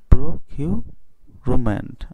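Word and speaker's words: procurement: অনুযায়ী, তাহলে কি হবে প্রোকিউ, তারপর প্রকিউরিউমেন্ট প্রকিউরিউমেন্ট প্রকিউরুমেন্ট। আশা করি তোমরা বুঝতে পেরেছ। আমাদের জানতে হবে ইউটা কেমন উচ্চারণ হয়, ইউটার উচ্চারণ হবে ইউ এর মতো।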